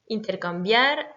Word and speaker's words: intercambiar: Intercambiar, là c'est la dernière syllabe puisqu'on a un R qui est une consonne.